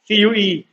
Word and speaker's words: queue: बोले तो लाइन, और उसकी स्पेलिंग QUEUE, QUEUE, लिख लो, ठीक से बोल रहा हूं मैं, CUE।